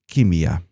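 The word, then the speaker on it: كيمياء: ah by the way chemistry is an Arabic word the correct pronunciation for it is Kimia this is abas fernes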